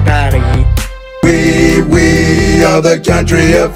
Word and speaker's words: Paris: My capital city is known as Paris, but inside of France they pronounce it Paris.